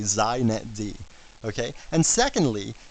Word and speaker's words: xinetd: First, it's pronounced zet D. So if you want to be hip, you say zet D.